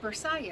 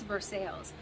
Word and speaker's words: Versailles: So funny story, we have a town here near where I used to work, and it's spelled exactly like Versailles. So I had to meet a client there. I got an old job. And I said, well, I don't know where Versailles is. And the people were laughing at me. I'm like, what is so funny? They're like, it's Versailles.